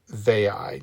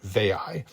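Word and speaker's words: Veii: of a city called Vey. Now that may be properly pronounced in Latin Bay. Um but it is very common in English to simply call it Vey.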